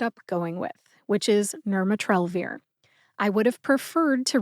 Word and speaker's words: nirmatrelvir: that I ended up going with which is nurat trir I would have preferred to read the pronunciation from the USP dictionary online however unfortunately